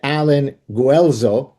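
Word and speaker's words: Allen Guelzo: The your co-author is, tell me if I'm pronouncing it right, Alan Guuelo.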